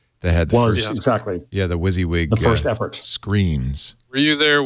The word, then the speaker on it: WYSIWYG: he got it he so I think that's pronounced WYSIWYG uh-huh he probably was that was the first